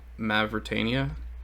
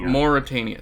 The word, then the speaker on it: Mauritania: I am going to produce from Mavritania, which gets me a food, but because Nathan... Do you pronounce that as a U, honey, not a V? Mauritania.